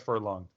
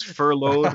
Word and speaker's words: furloughed: He got furlonged. Furlonged? Am I pronouncing that right? No, I believe it's furloughed.